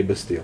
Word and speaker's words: Bastille: okay and they look at the word as it's spelled and say Bastille because it's a little slow can I call